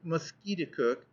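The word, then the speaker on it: Musketaquid: name of conquered river he pronounced it mosquito cook emphasizing the second syllable with the peculiar guttural sound and said that it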